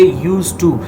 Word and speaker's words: used to: You will say used to, not used to. You will not say used to, you will say used to. D is silent, you will not pronounce it.